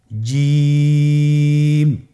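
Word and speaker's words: ج: আপনারা জিহ্বার মধ্যখানটা লক্ষ্য করুন এবং তার বরাবর উপরে তালুর সঙ্গে লাগান, এরপর হরফটি উচ্চারণ করুন, দেখবেন হরফটি শুদ্ধভাবে উচ্চারিত হবে। আপনারা আমার সাথে বলুন জিম।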